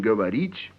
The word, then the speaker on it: говорить: Yes, the te in говорить is soft.